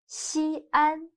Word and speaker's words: Xi'an: the terracotta warriors excellent xi'an can you write down the opinion of xi'an if we write shi and an together it'll become one syllable means first but xi and are two syllables so when the syllable